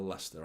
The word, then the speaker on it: Leicester: out you did not no one spelled Lester correctly typing it today no one I never spell it correctly I always have to double check always have to double check Lester that's what like is like it's such a crazy name isn't it Lester like you shouldn't spell it like that look at that Isa